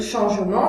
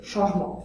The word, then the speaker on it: changement: Lorsque ce E muet est placé entre deux consonnes, il est rarement prononcé. Par exemple, on va dire samedi, Catherine, changement. On peut dire changement, ça donne un langage beaucoup plus clair et plus formel, mais habituellement à l'oral, on va dire changement, sans le E muet.